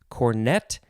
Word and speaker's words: cornet: cornet c-o-r-n-e-t first form cornet the british usually will say cornet emphasizing the first syllable you know they might